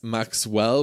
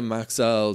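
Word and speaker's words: Maxell: whoever corrected my pronunciation I was calling Max L Max Maxwell which I think is a brand of tea as as well as a few other things so there's verba maxel Sony and a few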